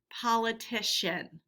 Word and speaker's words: politician: to that word and it changes the pronunciation of the c so when we hear a at the end of a word and we add ian it becomes shen politician okay and that's a